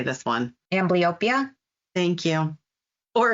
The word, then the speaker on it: Amblyopia: Amblyopia.